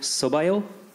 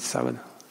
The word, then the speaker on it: sábado: And I just wanted to return the favor by saying, Boa sorte no sobaio. Did I say it correctly? Boa sorte, sábado.